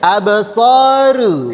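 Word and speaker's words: أَبْصَارُهَا: Bukan ru. Ru. Absoru. Abs. Itu tipis. Yang benar. Absar absoru absoru ru ru ab ha huruf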